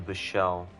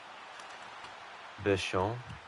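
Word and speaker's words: Bichsel: Uh, yeah, he drops it off to Bichelle or Bichelle. Keep getting his name wrong. The enunciation is on the first syllable, not the second one.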